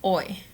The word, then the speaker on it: hoy: You're going to start with hoy. Hoy means today. Remember that to pronounce, you don't pronounce the H.